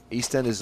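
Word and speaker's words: EastEnders: ERS on that day East Enders on every day several times a day yeah no I can't miss East Enders East Enders please put the emphasis on the correct syllable East Enders East Enders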